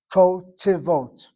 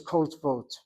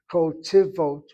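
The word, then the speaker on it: כותבות: Kotivot. If this were truly a shvanach, then it would be kotvot. Every Israeli says kotvot. I would like you to speak a better Hebrew. Kotivot.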